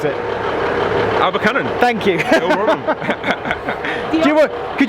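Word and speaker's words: Abercynon: Look, Paul's going to quickly tell us how to pronounce it. Abercunnan.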